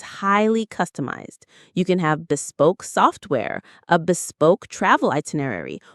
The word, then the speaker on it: bespoke: Now, this is a wonderfully elegant word, bespoke. Let's say it. Bespoke. Bespoke. Stress on the second syllable. Bespoke.